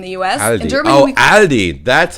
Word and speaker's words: Aldi: In Germany, Aldi. That's how you pronounce it.